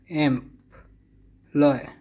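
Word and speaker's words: employ: एम्प्लॉय, इसकी pronunciation देखिए सही करके। एम्प, एम्प, लॉय, लॉय, एम्प्लॉय रोजगार देना।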